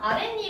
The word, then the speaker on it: 아랫니: 아랫니 같은 경우는 어떻게 만들어져? 아래 플러스 치아는 니라고 적었으니까 그냥 니라고 적을게요. 니잖아. 이걸 발음하면 어떻게 되냐면 아랫니 이렇게 말하나? 아랫니. 니은이 추가됐죠 소리가.